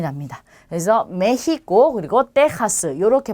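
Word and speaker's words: México: 자, 그러면 이 나라 이름을 읽을 때 우리 멕시코라는 나라인데요. 스페인어로 읽을 때는 메히코라고 하는 게 맞아요. 그래서 멕시코가 아니고 메히코. 그래서 흐 발음이 나요.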